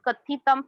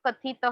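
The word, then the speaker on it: कथितम्: Whenever you have that anuswar ka sign, kathitam, putram, likhitam, pronounce it as ma and not ha. You are pronouncing like kathitah, likhita, which is wrong.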